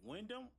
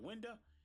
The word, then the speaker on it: Winda: Now, the thing about Shaddoll is that Wyndham, that's how I say her name, right? What's her name? Like Winda.